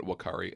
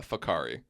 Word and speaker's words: Whakaari: I was literally pronouncing it Whakaari until this morning when I was looking up videos, and thank God I was like, oh, that's not how you say it. It's Yeah. Whakaari.